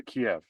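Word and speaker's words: Kyiv: To Kiev. They want to change how you pronounce it. They want to make it less Russian.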